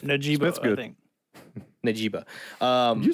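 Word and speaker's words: Njigba: Najiba.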